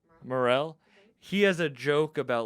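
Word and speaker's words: Morril: It sucks though, because Sam, how do you pronounce his last name? Morel.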